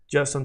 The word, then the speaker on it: justo: If I say justo a tiempo, it means just on time. Remember, the letter J in Spanish is not J J J J. It's like H sound.